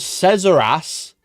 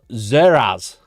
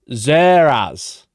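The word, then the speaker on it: Szeras: And he's also not called Cesaras. He's called Zeras. Zeras. Yeah.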